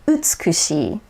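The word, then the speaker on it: utsukushii: my e example utzkushi if i were to pronounce that um with an american accent it would be utsukushi no it says utsukushi whereas japanese it's utsukushi the verb kuru notice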